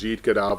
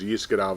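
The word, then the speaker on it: יתגדל: There's also 2 ways to pronounce it. Sephardic, which is yit gadal v'yit kadash, and Ashkenazic, which is yis gadal v'yis kadash. It has to do with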